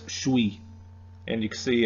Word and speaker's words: suis: In New England French, it's suis. And you can see it's pronounced there, suis, just you kind of combine it into one.